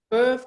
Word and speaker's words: Veuve: So, Veuve Clicquot. Veuve Clicquot. Veuve Clicquot. Correct. No, you've managed the pronunciation 100%.